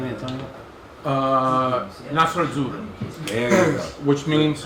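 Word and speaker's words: Nastro Azzurro: Nasr Azzurro, There you go.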